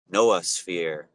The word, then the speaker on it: noosphere: the noosphere, which is like nos, Noos, or Noah. Yeah, I think that's how people pronounce it, like Noah's Ark, Noah sphere.